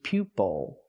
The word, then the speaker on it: pupil: at this word pupil it's not pupil because the stress is on the first syllable it's pupil pupil and it's a student a student can be called a pupil use the long you sound like U Pew pupil a student can be